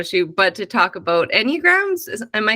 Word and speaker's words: Enneagram: about our photo shoot but to talk about enneagrams am I saying it right the Enneagram yeah